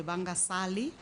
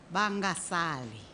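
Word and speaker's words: Vangasali: we are launching the vanguard sally i've been correcting to say let's say it properly bangasali like let's not leave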